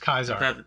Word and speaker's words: Caesar: mexicans mexico yeah after a guy named cesar kaiser it's pronounced kaiser that was pronounced kaiser legion that's a reference of